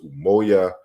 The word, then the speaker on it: umoya: in other areas like among isizulu speakers umoya is the pronunciation and it also includes